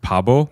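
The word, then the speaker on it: 바보: So in Korean, I'm going to pronounce this incorrectly, but I'll do as close as I can. It's like Pabo.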